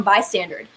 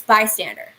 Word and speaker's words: Bystander: you mean this oh you're putting out the song by standard and i'm like it's bystander and they're like bystanders and is that a thing do you guys pronounce it by standard with the d at the end do you record it